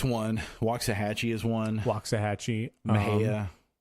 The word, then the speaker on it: Mexia: Mejia. Looks like Mexia.